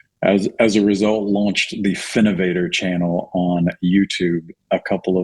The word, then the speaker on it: FINOV8R: So check out the Finovator channel on YouTube, and don't forget to subscribe. Yeah, don't forget to subscribe. It's spelled FINOV8R, Finovator. So you got it, Allan.